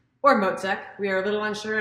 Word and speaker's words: Mocek: It's Mocek, baby, like mozzarella cheese. Or Mocek, we are a little unsure on how the Czech native pronounces mozzarella.